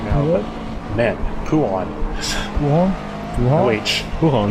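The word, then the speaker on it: Bouchon: right now, but man, Pujon. Pujon? Pujon? O-H. Pujon. Pujon. The H is silent. French people do not acknowledge the existence of an H.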